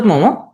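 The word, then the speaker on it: Maugham: William Somerset মোমো, ওনার উচ্চারণ হলো মোমো, এই কান্নাকারি করে না শেষ রাইটার আমাদের।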